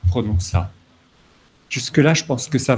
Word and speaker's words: prononça: C'est une lettre muette adscrite qui dit ne dites pas prononca, mais dites prononça.